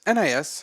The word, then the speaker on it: NIS: how do you pronounce it nice or nis nis okay it's nipponichi software okay